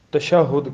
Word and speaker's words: تشہد: التشہد، تشہد کا بیان۔ یہ لفظ جو ہے یہ تشہد ہے، تشہد۔ بعض لوگ تشہد پڑھتے ہیں تو وہ درست نہیں ہے، اردو میں بھی اس کا تلفظ جو ہے وہ یہ ہے تشہد۔ تشہد تشہد یتشہد تشہدن